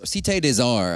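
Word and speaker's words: Cité des Arts: Cate Desar, I think, is the correct pronunciation. I call it city to arts.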